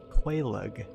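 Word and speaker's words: Quelaag: Yeah, so I killed Quaylug, is apparently how you say her name.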